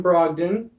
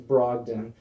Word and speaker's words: Brogdon: That would be Malcolm Brogdon. You said it wrong. It's actually Brogdon.